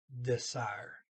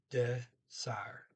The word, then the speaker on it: dessert: okay, they pronounce it desire, desire. So okay, desire. So Dessert. They pronounce the ER toward the end as R. Did not pronounce the T, so desire or dessert.